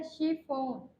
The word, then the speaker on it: chiffon: अब श का देखते हैं, सी के आगे क्या है एच, तो हम इसको क्या पढ़ेंगे श। जैसे CHIFFON, क्या बन गया शिफोन।